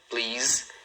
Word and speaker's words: please: Então, numa sílaba, please. E o som final é um som de Z.